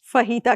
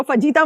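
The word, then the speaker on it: fajita: फहीता जो है वो बेसिकली स्पेलिंग तो FAGITA है, लेकिन जे जो है वो साइलेंट है, H के उसमें पढ़ा जाता है। फहीता कहला, उसको फजीता मत कह दीजिएगा कहीं पे आप मेरी बेइज्जती हो जाएगी।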